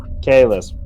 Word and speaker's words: Kalis: You got a better reason, or I mean, whatchamacallit, Keyless wants it? Keyless. Yeah. Or, fuck, how do you pronounce her name? Kalis, sorry. Kalis. Think of Payless, and it's just a K.